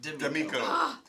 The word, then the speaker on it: D'Amico: We're so excited to have to be joined today by our special guest, Damon D'Amico. Did I pronounce that right? D'Amico. Like the restaurant.